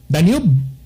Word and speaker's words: Danube: Ug ari sa ka mga higala sa Europa na sikat kay diyang dako king sapa kanang Danube o Danube ba pag-pronounce na? Danube.